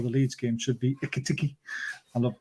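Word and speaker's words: Ekitike: Should be Ikitiki. I love pronouncing his name. It's so funny. Baz, if you just think of it in a Geordie way, Eki Teki.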